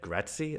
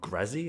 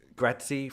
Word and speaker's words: Grazie: i looked at uh gratzy i'm going to pronounce it correctly in this video not grassy as i kept trying to call it for some strange reason um gratzy from jetbrains which is